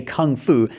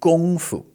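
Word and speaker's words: 功夫: It's actually gongfu, okay? Gong not Kung. Uh the gong is pronounced in the first tone so that's that high level tone gong and then fu is a neutral tone, okay?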